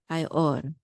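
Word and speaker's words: הַיְאֹר: We're not going to pronounce the shava, okay?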